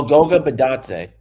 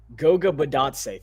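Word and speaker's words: Goga Bitadze: Snicker, do you know how to pronounce this guy's name? Which guy? Is it Goga? Oh, Goga Badatse. Goga Badatse.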